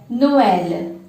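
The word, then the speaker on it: Noël: So when we add this accent mark, they will have their own identities and will have 2 different syllables here. So this word is pronounced as Noel, which means Christmas.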